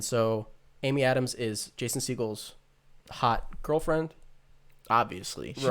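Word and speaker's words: Segel: to us yeah but uh it's it's jason siegel right that's how you say his name i thought it was seagal i thought that was like oh wait yeah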